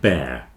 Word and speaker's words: bear: with long Fair hair bear Fair hair they all have the same pronunciation bear Fair hair this